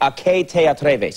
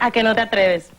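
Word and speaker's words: ¿A que no te atreves?: And help me if I'm pronouncing this right. A que te atreves. Is that right? A que no te atreves.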